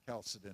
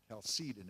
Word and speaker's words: Chalcedon: And there you have your Council of Chalcedon again, or Chalcedon if you prefer to pronounce it that way.